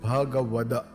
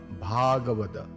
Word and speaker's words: Bhagavat: it is called bhagawat it is pronounced says bhaga and not bhada please note that bhagwat